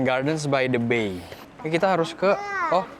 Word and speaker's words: Gardens by the Bay: Dulu mama pronounce this Gardens Bay the Bay bukan Gardens by the Bay.